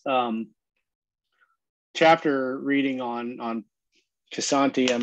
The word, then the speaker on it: Kshanti: deal of it but i think the k is actually meant to be silenced as much shanty shanti well i appreciate that